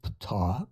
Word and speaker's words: Ptah: leader of their race, Ptah, pronounced P-T-A-A-H, sounds like the ancient god of Egypt, P-T-A-H.